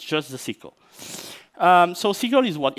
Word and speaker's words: SYCL: It's SYCL, like, you know, the round, curvy things.